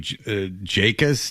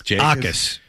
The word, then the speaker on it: Jacas: We weren't big on Gabe Jacas. Akis. Of course. J is silent.